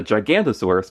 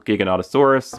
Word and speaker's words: Giganotosaurus: the Super Colossal Giganotosaurus, or as I used to call it, the Gigantosaurus, because I never knew how to pronounce this dinosaur's name until like a few days before the movie came out.